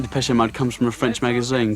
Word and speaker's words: Depeche Mode: Mode is just the word for fashion in French. Depeche-Mode. And we just decided we liked the sound of that name. And we chopped off the accent and we just kept the pronunciation.